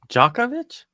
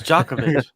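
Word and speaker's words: Djokovic: fact check me who's jackovic is it that tnis guy yeah yeah the world world number one oh is it the name it starts with a d but doesn't pronounce it with the D sort of okay yeah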